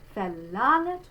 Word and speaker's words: verlangt: So we're going to say that beginning letter V in the spelling like an F. And this is our open E, the E sound like in bed. Verlangt.